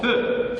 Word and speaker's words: faites: Le verbe faire, donc fait, faisant, faites attention, ici s'écrit fait, mais se prononce feu, faisant, et enfin, faites.